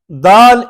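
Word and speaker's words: د: So, MashaAllah, Dal is a Nit'iya letter. Same again, it's pronounced from the tip of the tongue, touching the roots of the top two front teeth, like we talked about there as well, okay?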